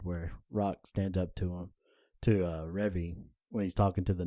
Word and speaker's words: Revy: And, like, you don't see any character progression from What's-Her-Face until, Remy. Remy, until about It's season Revy. 2. What? Revy.